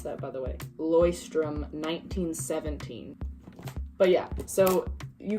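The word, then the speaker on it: Leuchtturm: use definitely had to look up how to pronounce that by the way Loy strim 19:17 but yeah so you can use like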